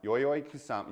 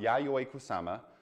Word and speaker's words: Yayoi Kusama: This is the Louis Vuitton Yo-Yo Kusama, Yayoi Kusama. I can never say her name correctly.